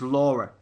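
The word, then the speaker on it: Lore: it's actually written as law but it's actually pronounced as Laura um it's uh directed by K shortland who's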